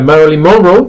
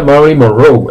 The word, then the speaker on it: Marilyn Monroe: la vida pronunciando a Marilyn Monroe, toda la vida Marilyn Monroe, la habéis pronunciado también como yo, y llegué a Estados Unidos y se pronuncia Marilyn Monroe, el acento va al final, y yo no lo